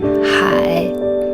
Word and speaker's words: 海: The third row, first one, hai. It's the third tone, which means ocean.